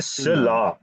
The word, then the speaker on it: cela: इसे सिला अब ये Cela.